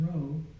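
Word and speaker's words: ρ: to confuse you the next one is row row which it looks like a pea I'll keep it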